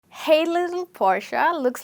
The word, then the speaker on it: Porsche: I think rapper Kelly got it absolutely right when he says Portia instead of saying Porche as Porsche. It's actually pronounced as Portia.